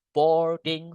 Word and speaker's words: boarding: Nah, kalau pesantren, pondok itu Islamic boarding school. Boarding, kita nggak perlu bilang boarding ya. Oh, A-nya ini nggak dibaca.